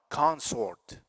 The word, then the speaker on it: consort: The last one, consort. See the vowel, schwa, consort. As a noun, consort. Consort. The stress is on the first syllable.